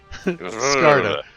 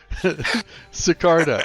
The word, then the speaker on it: Sigarda: Sigarda. Sigarda. I like Sigarda. It works. It's an emphasized S. In Stefan's tongue, that's how it's pronounced.